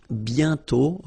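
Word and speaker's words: bientôt: And then the final T is not pronounced BTO.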